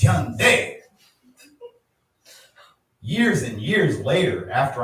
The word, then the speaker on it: Hyundai: Yes, Americans don't say it right. It's not Hyundai, it's Hyundai.